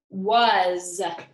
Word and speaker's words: was: our Z because was our s sounds like Z and our a sounds like a u so this is why